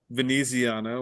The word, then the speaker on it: Veneziano: they they did um play um veneziano which is how they pronounced it on air today